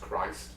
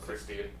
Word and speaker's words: Christ: It's actually pronounced Christ, not Christian, yeah.